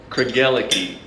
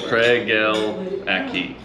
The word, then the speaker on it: Craigellachie: And so the way to, so it's pronounced Craigellachie. And if I'm remembering the story right, to remember it, Craig and L found a key. That's really as simple as it gets. Craigellachie, a key.